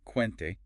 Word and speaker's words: quente: Ah yes in g and ghee like quente hot or guitar. So the u isn't pronounced there usually not.